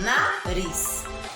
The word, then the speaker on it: nariz: Vocês vão observar nariz escrito com Z, mas tem o som de S, ó, nariz.